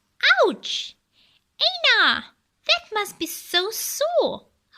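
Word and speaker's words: عين: Same like how they said, ouch and aina. Right, the letter ain comes out from your throat.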